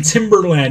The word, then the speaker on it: Timberland: Joe Santana said, remember to pronounce the R in Timberland. Yeah, Timbaland is the music producer. Timberland are the boots.